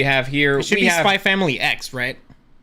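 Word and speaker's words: Spy × Family: So just as a like thing, you're not supposed to pronounce the X. Spy Family?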